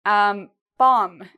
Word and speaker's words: bomb: Okay, bomb. If you think about a bomb, an explosion, right? Bomb. Again, same rule.